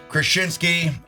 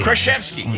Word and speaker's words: Kraszewski: Krasinski. Kraszewski. Did I pronounce it wrong all the time? Kraszewski. Kraszewski. Yeah, there you got it.